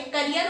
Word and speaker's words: carrier: तो दोनों का प्रोनाउंसिएशन अलग है, करियर होता है, कैरियर होता है।